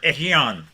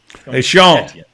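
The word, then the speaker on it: Etienne: going to be Trevor echeon hey Sean hey Sean that's how they pronounce it down in the Cajun Country according my friends before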